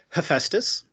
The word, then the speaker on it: Hephaestus: I'm the Managing Chief Information Security Officer at Hephaestus, pronounced like the Greek god of the forge.